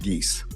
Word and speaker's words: Geis: And if I may correct the court, the last name is pronounced Geese. Geese, sorry about that. As in Canada Geese.